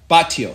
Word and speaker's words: Batlló: Batlló.